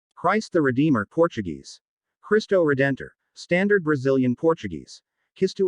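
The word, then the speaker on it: Cristo Redentor: christ the redeemer portuguese christo redentor standard brazilian portuguese kiss to edito local pronunciation khatuzidito is an art deco statue of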